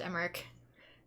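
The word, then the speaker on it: Aymeric: I am Emmerich, Lord Commander of the Temple Knights. Okay, it's pronounced Emmerich, with more of an E than an A. Alphino Leveilleur, at your service. Your reputation precedes you, Sir Emmerich.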